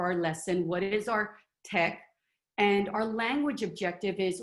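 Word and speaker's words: TEKS: And here I have my, I always say it wrong, I always say TEAC, but I believe it's tech.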